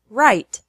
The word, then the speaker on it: write: sounds like our so the word write is pronounced the same as right wrong wrist wrap wrestle